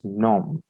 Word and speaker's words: nom: write here name and name in french is pronounced as gnome and we can use